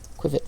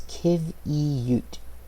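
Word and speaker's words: qiviut: Quivet fiber.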